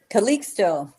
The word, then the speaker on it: Calixto: It's either Calixto or Caliho? Calixto. Calixto, okay. Calixto. Okay, just wanted to make sure because sometimes if you make the pronounce it like Mexico, even um Mexi- obviously in English, you know Mexico has an X, but uh in the Spanish, you don't hear it.